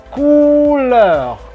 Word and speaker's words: couleur: Kemudian ini dibacanya couleur, couleur, karena C ketemu O itu ko. Kemudian O, U itu bunyi U biasa di bahasa Indonesia nih. Kamu, tahu. Kemudian E, U itu berbunyi E bahasa Sunda atau E bahasa Aceh.